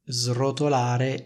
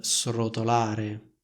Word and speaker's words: srotolare: quella della S intervocalica allo stesso modo si dice srotolare e non srotolare non so se Conoscete